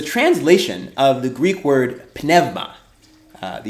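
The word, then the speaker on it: πνεύμα: The English word spirit is a translation of the Greek word penevma. Uh the u pronounced like a v when it's after an epsimo.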